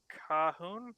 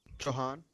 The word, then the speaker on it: Chauhan: Alright, PV2 Cahoon? How do you say your name? Chauhan. Chauhan. Chauhan. Okay, Chauhan. PV2 Chauhan, can you describe to me what successive bounding is?